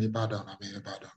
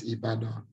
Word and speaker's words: Ibadan: No, I'm in Ibadan. Ibadan. I don't even know where Ibadan is. Is that Ibadan or no? Yes, Ibadan.